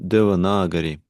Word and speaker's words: Devanagari: Yeah, it's pronounced Devanagari. Devanagari, Devanagari.